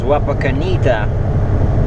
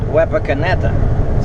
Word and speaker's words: Wapakoneta: And yesterday I only went as far as Wapakoneta. Or as it turns out, the town is actually called Wapakoneta.